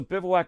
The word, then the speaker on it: Bivouac: How would you pronounce this? Does anybody know? Yeah, good, Josh. Okay, it's Bivouac, and I knew that.